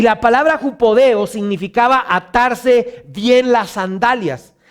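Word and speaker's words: ὑποδέω: La palabra calzado es una palabra en griego que se pronuncia jupodeo. Ahí está apareciendo en la pantalla, jupodeo. Y la palabra jupodeo significaba atarse bien las sandalias.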